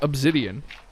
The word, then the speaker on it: obsidian: I pronounce it with a Z rather than an S. And it annoys her as well. But I don't care. It's obsidian.